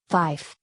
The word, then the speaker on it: Fife: somewhat distinct from 4 5 is pronounced with a second F because the normal pronunciation with a V is easily confused with fire a command to shoot